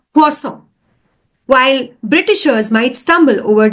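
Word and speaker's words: consommé: certain words for example Americans often mispronounce French words like cossom they might say cusome instead of quom while britishers might stumble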